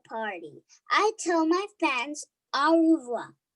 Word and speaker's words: au revoir: i tell my fans au revoir you say it like this that's french for goodbye on my door i